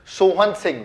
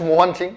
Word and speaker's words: मोहन सिंह: तो आप जिस व्यक्ति के यहाँ पर नाम देख रहे हैं that is सोहन सिंह, very famous personality. Sorry it's मोहन सिंह, pronounce गलत, मोहन सिंह, ठीक है।